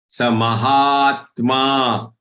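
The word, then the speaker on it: महात्मा: On top of ha there is aghat for hapta. So pronounce the hap as a long letter. Then try to take this aghat, which is going to be a very subtle one.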